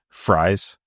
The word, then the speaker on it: Fries: as mine but uh I've heard everybody pronounce it fries like who does the announcements so I and I he's not like related to me that I know of so obviously it's it's pronounced a little bit differently than my name but um I think